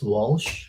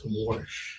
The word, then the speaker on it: Warsh: Not messing up, but keep saying it's keep thinking it's Walsh, but it's Warsh.